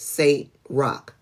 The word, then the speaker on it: Saint Roch: Oh, pronounced Saint Roch.